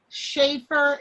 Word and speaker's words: Schaefer: And then last name, it's Schaefer. It's spelled like safer with an H. So Shafer.